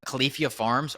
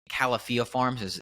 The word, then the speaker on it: Califia Farms: One of them, Califia Farms, or excuse me, Califia Farms is the correct pronunciation there, Ah, and they recently came out